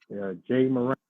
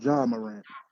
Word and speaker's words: Ja Morant: Jay Morant, No, it's Ja Morant.